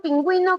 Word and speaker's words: pingüino: El término pingüino contiene un diptongo. Pingüino. ¿Habrá diptongo? Sí, porque pingüino, tú vas a pronunciar aquí, la U suena, y si suena, se forma diptongo.